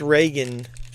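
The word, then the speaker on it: Regan: Alright, well that's Reagan. That's how you pronounce her name from The Exorcist.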